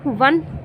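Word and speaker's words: one: क्या है, ओ है, लेकिन ओ जो है जो 1 जो है उसको उच्चारण करते हैं तो वो किससे शुरू होता है, वा से, और ये व्यंजन से शुरू हो रहा है, इसलिए यहाँ पर हम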